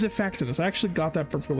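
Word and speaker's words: Xiphactinus: Is that how you pronounce it? Zifactinus? Zifactinus. Yeah, okay, it's Zifactinus.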